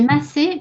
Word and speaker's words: Masse: C'est Massé, mais l'accent a disparu. Ok. Fait que ça s'écrit bien Mass, mais ça se prononce Massé.